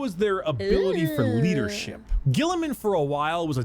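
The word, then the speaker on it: Guilliman: Primarch, Rabute Gilliman.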